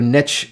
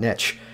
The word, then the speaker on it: niche: presuming you're referring to niche specific content and i got a couple of questions about niche uh by the way around these parts we say niche rather than niche because niche rhymes with rich there you go i'm